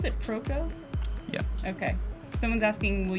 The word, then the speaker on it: Proko: How do you pronounce it? Proko?